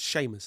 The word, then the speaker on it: Seamus: Written by, whenever I see Seamus, I always mispronounce it, Seamus, Seamus. It's Seamus, isn't it? Irish?